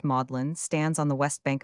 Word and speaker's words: Magdalene: Magdalene College pronounced Mlin stands on the west bank of the Cam near the great bridge in 1428.